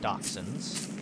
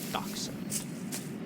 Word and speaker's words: dachshund: - sound alright so wiener dogs are - hounds not in fact dachshunds yeah dachshunds the only reason I